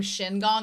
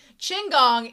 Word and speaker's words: Chen Gong: She shows up and does this love spell that, for the record, Chen Gong, I keep wanting to call him Shen Gong, and that's not right. Chen Gong, he falls for it, and it disables him.